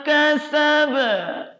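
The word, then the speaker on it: كسب: Nah, ini baru qalqalah kubro. Mengapa berbeda dengan tadi? Karena tidak ada tasydid. Oke, untuk itu saya ulangi ya. Ma aghna anhu maluhu wa ma kasaba. Harus seimbang bunyi ba dengan suara awalnya. Kalau dia mengecil, berarti itu belum tepat.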